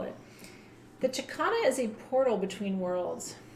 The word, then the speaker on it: Chakana: So Chicana is spelled Chakana, Chakana, and Chicana represents, like I said, it is a wheel, but it's also a portal.